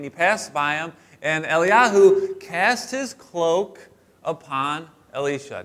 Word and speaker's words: Elijah: el-jah all right but it's actually pronounced eliahu because they don't pronounce the j so elijah is not elijah it's actually eli yahoo el yahoo and then